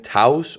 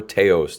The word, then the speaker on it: Taos: leds in our 2021 volkswagen taus or taos depending on how you say it now the reason